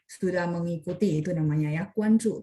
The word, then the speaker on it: 关注: mengikuti, itu namanya ya, 关注, tapi tulisannya GUANZHU. Kalau yang Bapak ketik JU ya, JU itu bacanya Ju. Ini Ju, ZHU, 关注. Sebentar, saya coba cek ya.